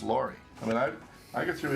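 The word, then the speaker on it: Lowrie: It's not pronounced Lowry, it's pronounced Laurie.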